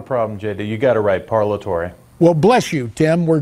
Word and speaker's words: Parlatore: Fisher Broyles from newsmax New York Timothy parallel parallel Tory Timothy I apologize if I mangled your last